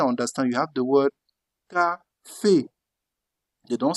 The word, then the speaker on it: café: That's why you took the sound K, became café, because you have A, café, that is coffee.